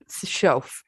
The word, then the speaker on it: Schaff: Shof. Shof. Yeah. Of the 7 letters, 3 of them are silent.